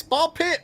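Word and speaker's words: Ball x Pit: The X is silent like hunter cross hunter or spy cross family.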